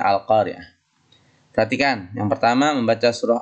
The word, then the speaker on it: Al-Qari'ah: Maaf anak sekalian, di atas itu hurufnya A ya. Yang benar Qaf, karena bacanya Al-Qari'ah nih. Harusnya Al-Qari'ah.